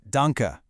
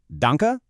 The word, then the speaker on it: danke: Then we have the word for thank you, which is danka, pronounced dunka.